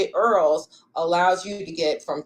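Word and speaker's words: IRRRLs: question about the va earls they call it earls but it's spelled v-a-i-r-r-l-s go to va.ca.gov make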